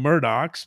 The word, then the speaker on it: Murdaugh: so so you know I call them Murdoch's because that's how they call themselves but but the point